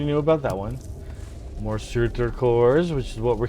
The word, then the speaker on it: Surtur: It's Old Norse, so it misses that last vowel. That last vowel sound could be a U or an E, but it's spelled Surtur.